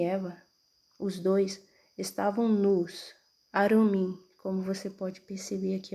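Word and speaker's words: עֲרוּמִּים: que Adão e Eva, os dois, estavam nus, Arumim, como você pode perceber aqui a pronúncia. Vou trocar a cor aqui para destacar, tá? Aqui, ó, a pronúncia Arumim, Arumim, Arumim, plural, nus.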